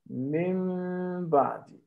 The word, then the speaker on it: min ba'di: Because we are not going to pronounce it like mim, mim ba'di. We don't say mim, mim ba'di. We say mim, mim ba'di, mim ba'di. You slightly close your lips. Min, min, min, min, min, and you pronounce with two harakat.